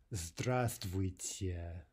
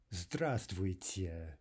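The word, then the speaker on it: здравствуйте: them right now your standard Russian greeting is the stress tweets yeah stress tweets yeah we're dropping the vibe right so instead of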